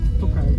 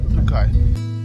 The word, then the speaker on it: Tokaj: Tokaj, is it? How do you say the town? Tokaj, yeah. Tokaj.